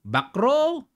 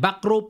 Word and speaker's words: Bacrot: Wesley Dito backrow Ayan backrow po ang tamang bigkas ha Sa international sa atin kasi Bakr yan eh sa ibang bansa Ilang beses ko na silang narinig back row yun ang bigkas nila kaya nakiki back row na rin ako ha Ayan ah si si